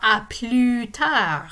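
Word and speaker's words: à plus tard: see you later or a plutar in this case the s is not pronounced because a word that begins with a consonant follows right after it so it's good to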